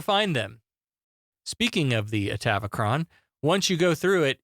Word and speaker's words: Atavachron: How do you pronounce that fucking word? Atavachron. Atavachron. That's what they were saying.